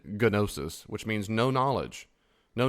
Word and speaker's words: gnosis: a alpha primitive for no and nosis that G is silent. So if you said gnosis which means no knowledge.